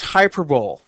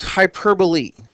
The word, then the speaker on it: hyperbole: sounds different it looks like it should be pronounced hyperb it's actually pronounced hyperbole now in a hyperbole is an intended exaggeration